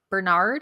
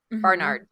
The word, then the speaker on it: Barnard: Um, so she attended Bernard, I think is how you say it. Bernard Barnard. Yeah.